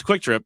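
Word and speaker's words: QuikTrip: It's Quick Trip. Yeah, it's definitely pronounced Quick Trip.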